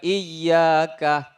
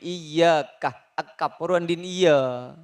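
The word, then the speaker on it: إِيَّاكَ: Perbaiki kesalahannya, Iyaka na'budu wa iyaka nastain, ya, ucapkan dengan benar, iyaka, tekankan iyaka. Iyaka na'budu wa iyyaka nasta'in. Kenapa kamu mengulang-ulang iyaka dan iyaka na'budu, perbaiki pengucapannya. Iah ak i benak buduh. Bukan seperti itu, Tuan, iyaka, tekankan huruf i, kata Ibn Kathir, iyaka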